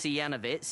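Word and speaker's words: Janowicz: me yeah he was playing Janovich I think that's the right pronounce janovitz yeah that's it yes and he won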